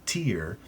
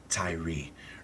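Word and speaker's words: Tyre: to the temple of Tier Ty. Tyr Tyrie. Most people pronounce it tier. I've just prefer to pronounce it Tyrie.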